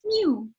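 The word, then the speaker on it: mjw: thing and um and the egyptian word for cat is just mw which is pronounced mew so it all kind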